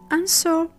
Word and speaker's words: answer: W is silent when it comes at an initial position before H and R. It's silent after the fricative S in some words.